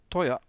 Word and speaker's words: teuer: Rappelez-vous du Z qui prononce ts, zu, teuer. Et la diphtongue oi ici. Ça, on a déjà vu les diphtongues, voilà. Zu teuer.